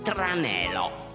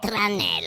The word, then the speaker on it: tranello: Tranelo. Trane, che ne so, mi hanno tirato un tranelo. Tranelo si scrive con una L sola. Tranelo. Ripeti grande a Diddo. Tranello.